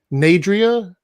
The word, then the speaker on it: Nadria: Chosen one, 4-eyed raven, first chair flute, she, her, pronounced like Adrian with the end of the front. So Adrian. So it's Nadria. Okay. There's no N on it.